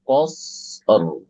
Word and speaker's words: قصر: Kal qasr. Qasr. Oke. Oke. Kalau bisa jangan qasr, qasr. Oke, tapi qas munculkan ro di akhir.